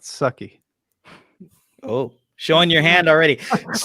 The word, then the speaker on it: Su'Kal: season three episode 11 su-call so um i think it's pronounced sucky oh showing your hand